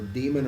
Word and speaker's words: daemon: And then we'll go to examples of writing an actual daemon process. So a daemon or a daemon, depending on how you want to pronounce that, D-A-E-M-O-N word, is something that will run beyond any session you have with the computer itself.